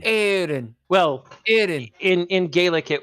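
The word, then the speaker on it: Aeryn: call her aen aen e r y n aen well in in Gaelic it would be like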